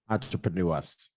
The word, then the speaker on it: Entrepreneur Us: His latest venture, Entrepreneur Us, right? Am I saying it right? Or US? Go ahead, say it. Entrepreneur Us.